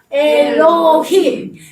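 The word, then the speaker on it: אֱלֹהִים: 그래서 들이라는 뜻입니다.요 가운데 있는 글자는 해인데 우리가 아직 배우진 않았으니까 제가 발음만 얘기해 드릴게요. 히업 발음이 납니다. 그래서 우리 하나님의 이름은 뭐라고요? 엘로힘.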